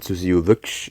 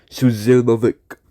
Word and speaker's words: Suzilovic: pronounced as was Susilovic, but it was not Susilovic. It was Suzilovic, of course. Now apparently it can be hard to pronounce your Z's, but I'm extraordinarily well